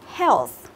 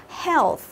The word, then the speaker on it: health: Health, health. Death, death. Ok, đấy thì EA ở đây mình đọc là âm gì các bạn? Mình đọc là âm E, đúng không?